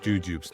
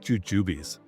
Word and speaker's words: Jujubes: And by the way, they are pronounced jujubs, not jujubies, trogodites.